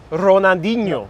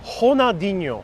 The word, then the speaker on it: Ronaldinho: You don't know how to say like the R like I do? Ronaldinho. Ho. Wow, is it pronounced differently? Ronaldinho. Ronaldinho. Yeah. Ronaldinho. And then there's the NH.